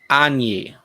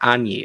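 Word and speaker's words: Anje: Yes, considering that Innistrad theme is very Transylvania, okay, I'm inclined to pronounce it, okay, with a German J. How would that be pronounced? So it's Anji? Okay, let's see here. Anyi.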